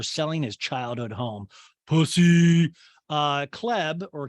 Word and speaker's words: Chleb: Chleb or Caleb or Chubbs, however you want to call it. We say it Caleb, but it's spelled Chleb because they hate us.